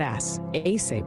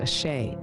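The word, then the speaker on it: Àṣẹ: story a my dude not ass aay pronounced a shay is an African spiritual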